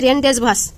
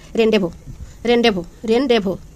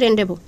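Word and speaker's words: rendezvous: এটা মনে হচ্ছে রেনডেজভাস, কিন্তু আসলে এটা না, এটার সঠিক হচ্ছে যে হবে এর উচ্চারণ হবে হচ্ছে রেনডেভো, এর সঠিক উচ্চারণ হবে রেনডেভো।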